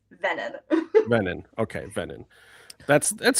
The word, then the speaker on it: Veenan: I always get Veenan or Venen. It's No, it's Venen.